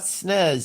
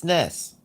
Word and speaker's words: SNES: a NES and a SNES. And I'm like, there's no freaking Z there. There's no Z. There's no Z. It's not NES. It's not SNES. It's SNES. It's a short S sound.